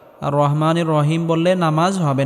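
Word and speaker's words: الرحيم: আর রাহমানির রাহিম।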